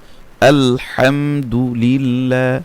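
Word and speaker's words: ٱلْحَمْدُ لِلَّهِ: হরফের উচ্চারণ দেয় লাম খারা জবর লা লিল্লাহ আলহামদুলিল্লাহ হা জের হি তাড়াতাড়ি উচ্চারণ আলহামদুলিল্লাহি র বা জবর রব র বা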